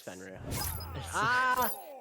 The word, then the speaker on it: Fenrir: It's Fenrir.